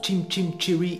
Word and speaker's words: Chim Chim Cher-ee: Aujourd'hui pour vous, un petit peu de piano avec le morceau Chum Chaminé, qui en anglais se prononce Chim Chim Cherry East Wind.